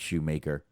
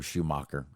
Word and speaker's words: Shoemaker: uh hosted by david shoemaker or schumacher however you want to pronounce that it kind of depends on where you're from and the the other